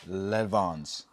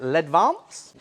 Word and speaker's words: Ledvance: I'm not sure they're French, but I'd pronounce it Ledvance.